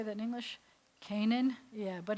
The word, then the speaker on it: Canaan: final none can not on cannot on is Kanan cannot on is Kanan it's not really supposed to have been Canaan there's no at the beginning of that anywhere